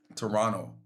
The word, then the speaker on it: Toronto: The T is silent. I know. I have I'll be struggling with that. Toronto without the te.